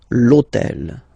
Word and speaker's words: l'hôtel: starts with H, but remember that in French we don't pronounce H, okay, so basically the first sound of the word is the vowel O, okay, so for the same reason, E needs to disappear.